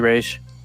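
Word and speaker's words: Ra's: that's fun and so yeah there's actually a pronunciation for it and it's apparently race so i'll let christopher nolan know yeah let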